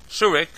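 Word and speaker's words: שורוק: Segol, Tzerei, Chirik, Patach, Shurik, and Cholim. Those are pronounced as follows. Kametz is O, Patach is A, Segol is A, Tzerei is A, Chirik is E, Shurik is U, and Cholim is O.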